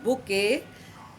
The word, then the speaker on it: bouquet: But the T is silent here. It is pronounced bouquet, but T is absolutely silent, not bouquet.